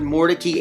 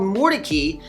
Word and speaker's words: Mordecai: they pronounce this area an out-of-towner is gonna pronounce it like you would find in the Bible Mordecai however if you